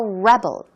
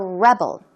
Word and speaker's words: rebel: but you can also rebel against something so make sure you pronounce the word correctly as a verb it is to Rebel Rebel and as a noun okay you can be a rebel now he talks about